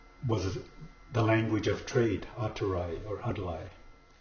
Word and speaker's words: atora: And so atora, we don't pronounce the R's in our language, so we replace them with an L.